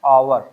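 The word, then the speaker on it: hour: इसको पढ़ते हैं आवर। तो यहां पे पहला जो लेटर है वो अ आ रहा है।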